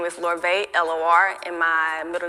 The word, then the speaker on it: Lorvae: incorporate my middle name um and so you spell it l-o-r so my brand name is larvae l-o-r and my middle name is